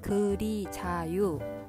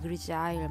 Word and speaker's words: Grisaille: 그래서 이곳을 검색을 해보실 땐 그리자유 좀 처음 들으시는 단어일 수 있는데요. 그리자유라고 검색을 해보시면 이렇게 이제 뭐 발음을 제가 들어왔더니 그리자일 뭐 이런 식으로 프랑스 말이에요. 프랑스 단어인데 요 기법이 이렇게 회색으로